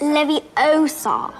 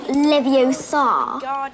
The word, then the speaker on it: Leviosa: Wingardium Leviosa. Wingardium Leviosa. Wingardium Leviosa. Look, stop. You're going to take someone's eye out. Besides, you're saying it wrong. It's Leviosa, not Leviosa.